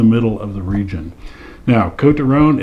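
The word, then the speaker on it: Côtes du Rhône: of the region now coat toone it is not Coast or coat like an Overcoat it's co T and there's a little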